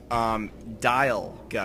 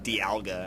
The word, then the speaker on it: Dialga: Dialga, because time dial. I figured that out like a few episodes ago, and I was saying it wrong. I was saying Dialga.